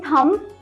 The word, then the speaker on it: thumb: You are not going to say thumb. Okay, it is thumb. B is silent over there.